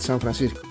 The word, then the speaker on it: San Francisco: For example, San Francisco. San Francisco is San Francisco. My name is Francisco. So you call it in that way. try to pronounce it with the English accent, but you call it in the Spanish version.